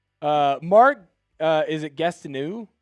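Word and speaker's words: Gastineau: Uh Mark, uh is it Gastonu? Gastonau, is that how you say his name? Gastau.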